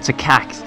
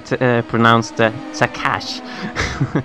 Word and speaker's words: Takacs: And just have to mention, actually, because you said Takacs, and he's actually informed me that his name is pronounced Takash or something similar like that.